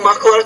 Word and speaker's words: muscular: a single, long, hollow muscular tube about Say the word muscular. Muscular. You're not pronouncing that medial S in that word.